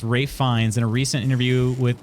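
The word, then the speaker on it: Ralph Fiennes: Today I learned his name is pronounced Rafe Fiennes.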